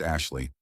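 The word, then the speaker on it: Ashliegh: A s H L I E G H pronounced Ashley.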